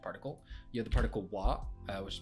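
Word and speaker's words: は: usually a subject particle you have the particle wa uh which is pronounced Han but why when it's a particle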